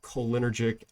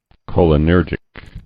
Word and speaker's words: cholinergic: We have reported that these microwave-induced changes in central cholinergic activities are mediated by endogenous opioids and may have important consequences on the behavior of the animal.